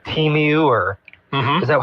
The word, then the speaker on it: Temu: My wife gets sent stuff sometimes too from like Temu or, is that how you say it? Temu, yeah.